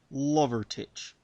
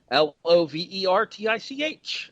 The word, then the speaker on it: Lovertich: Yes, it is indeed Lovertich. Spelled fairly phonetically, thankfully. Lovertich.